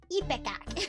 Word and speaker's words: ipecac: How do you pronounce that? Ipecac.